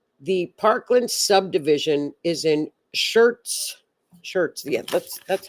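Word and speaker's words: Schertz: The Parkland subdivision is in Shirts. Shirts. Yeah, that's that's how you pronounce it. Yeah. Shirts, Texas.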